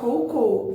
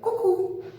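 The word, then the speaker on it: coucou: Não vamos falar cou, pelo amor de Deus, tá? Já expliquei que O tem som de U, como se fosse o nosso U, né? Então, a pronúncia desse oi é cucu.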